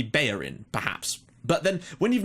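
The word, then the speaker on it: Bellerín: for example like Hector bellerin right I've never heard him pronounced any other way than Hector bellerin now I assumed that perhaps because he was Spanish it might be bayin perhaps but then when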